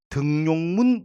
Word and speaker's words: 등용문: 그 4개는 음을 첨가시키 발음하지 않는 예입니다. 외워볼게. 송별연, 등용문, 여기용 그리고 월요일, 일요일, 목요일, 금요일 같은 요일 모두 다 야들은 음을 첨가시키 발음하지 않는 일종의 예외라 보시면 되겠습니다.